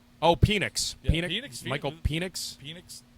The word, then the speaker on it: Penix: The kid from Washington, Phoenix. Oh, Penix.